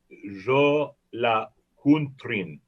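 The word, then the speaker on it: Jólakötturinn: It's it's Jolakuntrin. Okay. Jolakuntrin. You can be right in my book. Well, this is one scary kitty cat. The Yule Cat, the Jolakuntrin, or Jolakuntror, is a huge and vicious cat from Iceland.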